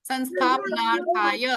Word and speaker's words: संस्थापनार्थाय: यहाँ पे इसमें थोड़ा सा स्पेलिंग मिस्टेक है, ठीक है, लेकिन जब हम डिसाइड करते हैं तो आप ध्यान रखना संस्थापनार्थाय, संस्थापनार्थाय। ओके, प भी है उसमें। ओके, संस्थाप यहाँ पे आएगा प, ठीक है।